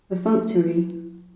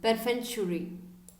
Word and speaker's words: perfunctory: perfunctory, Perfunctory. perfunctory, C is almost silent.